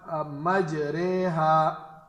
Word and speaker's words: مجریہا: بند رکھے۔ دوسرا حرف ہے ہمارے پاس الفاظ مجریہا، اس کے ہم ہجے کریں گے، میم جیم زبر، میم جیم